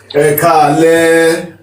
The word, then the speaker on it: Ẹ káalẹ́: Ẹ káalẹ́. Ẹ káalẹ́, which means it is still, how can I put this?